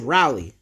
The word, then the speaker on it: Raleigh: It's pronounced Raleigh.